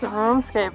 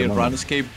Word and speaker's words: RuneScape: And people who play RuneScape very racist and toxic. You say RuneScape? Yeah. Oh. That's how we say in South America. You pronounce runes and run ease. RuneScape? Yeah, literally rune, not run.